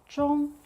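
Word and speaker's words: 中: It's pronounced as zhong, zhong.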